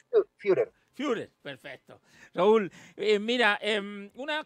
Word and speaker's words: Führer: No te preocupes, mira, lo más fácil es que la U se pronuncia IU, entonces es Führer.